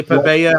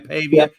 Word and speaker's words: Pavia: I mean, honestly, Pavia, I think is how you say his name, Pavia.